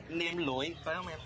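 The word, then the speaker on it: nem lụi: It's called Nem Loi.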